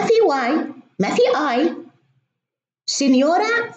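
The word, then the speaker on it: signora: مثلا في اللغة الإيطالية بيكتبوا سينيورا أو سينيور، ما في واي ما في اي، سينيورا فيها جي وان، ولما تكون الجي وراها ان تنطق يو، سينيورا.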